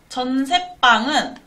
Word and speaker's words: 전세방: 적절하지 않은 것은 4번입니다 전세방은 전세방 이렇게 발음이 됩니다 얘는 근데 한자어랑 한자어가